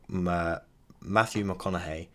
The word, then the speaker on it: McConaughey: But there was a speech done by Matthew McConaughey.